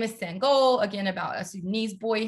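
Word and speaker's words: Sangoel: is pronounced um and his name is sun goal so he draws a sun and then puts like a soccer goal below it and so everybody remembers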